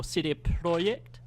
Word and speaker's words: CD Projekt: Ora might be the other way around or Cydia project is they as it's properly pronounced and this is really fascinating I didn't